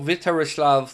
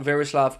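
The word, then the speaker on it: Vítězslav: His first name is also Vitarislav, not Verislav.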